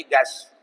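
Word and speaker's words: guest: ई की साउंड है वही गेस्ट गेस्ट वही यहां यू ई की साउंड है साइलेंट यू ई टंग टंग यहां तक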